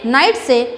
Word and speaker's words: knights: तो उसको हम नाइट्स नहीं बोलेंगे, उसका प्रोनाउंसिएशन जो है वो क्या है? नाइट्स है, कि यहाँ पे साइलेंट है।